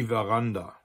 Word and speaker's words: Veranda: as French, especially French, it is almost always pronounced like a V sound, just as it would be in French or in Italian, or what we think Latin used to be pronounced like.